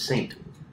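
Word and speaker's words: Ste.: It says S-T-E, so I didn't know if it was Saint.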